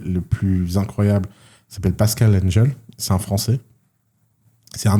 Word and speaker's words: Engel: E-N-G-E-L. Ok. Je sais pas comment ça se prononce. Engel, je crois. Ils disent. Engel, ouais. Parce que quand on trouvera.